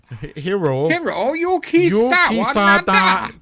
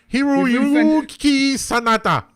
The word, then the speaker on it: Hiroyuki Sanada: Spells it out phonetically. Fucks it up good and proper. Yes. Hiroyuki Sanada. We've just offended an entire fucking country, Keith. Hiroyuki Sanada.